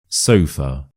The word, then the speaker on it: sofa: Sofa. Sofa. Sofa. And the schwa is of course here. So we stress the first syllable.